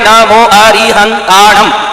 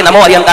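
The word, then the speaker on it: नमो अरिहंताणं: आप लोग नमो अरिहता बोलिएगा। एक बार जोर से बोलो आपके देखो तीन जगह में नमो अरिहंताम सात शब्द सात जगह टच हो के निकलना चाहिए आप अभी बोलेंगे तो दो जगह में ही स्पर्श करने मात्र से नोमो अरता निकल जाएगा ये तो नमो अरिहताम की गलती नहीं है शब्द उच्चारण की अज्ञानता की गलती है वो 51 शब्द किस-किस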